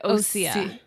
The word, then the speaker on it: Osea: And they said Osea. Osea, like the sea.